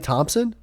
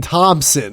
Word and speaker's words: Thompson: it without a pig you're just saying thompson like it's thomas well that's just how i say it top top skip silent p okay whatever okay so